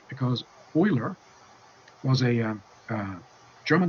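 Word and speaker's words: Euler: and in honor of his Heritage it's not pronounced uler it's pronounced oer so it's not angelized not everything need to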